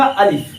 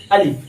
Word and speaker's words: الف: अलिफ। क्या है? अलिफ। यहां पे जैसे देखिए क्या है?